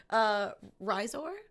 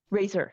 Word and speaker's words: Raizor: So it's like slightly more a razor, but with more emphasis on the second syllable almost than the normal word.